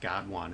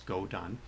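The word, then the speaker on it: GODONE: it's called goone okay that's that's not pronounced God one it's goone okay so we can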